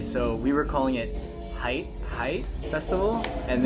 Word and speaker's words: HYTE: And by the way, so we were calling it HYTE Festival, and then it's pronounced HYTE.